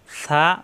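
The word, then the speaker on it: ث: সা, উপরে 3 নক্তা, সা নরম করে উচ্চারণ, জিহ্বার আগা, উপরে 2 দাঁতের আগায় লাগিয়ে সা সা সা সা।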